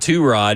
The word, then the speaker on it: Tyrod: When Tyrod said that he was getting called Two-Rod, and that's how it's always supposed to be pronounced, I go, where's DU?